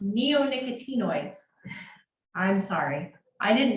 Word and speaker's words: neonicotinoids: are going to ask this very long word is pronounced neonicotinoids I'm sorry I didn't